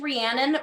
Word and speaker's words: Rhiannon: it's a hard name it's pronounced rhiannon but truly every day